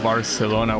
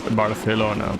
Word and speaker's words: Barcelona: It's just that for anyone that lives outside Spain, that word is not pronounced with the lisp. Of course, it's pronounced like more more like it's pronounced in English, ironically.